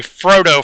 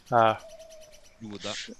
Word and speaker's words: Froda: I want to say Frodo for that one, but that's just because of Tolkien. Froda.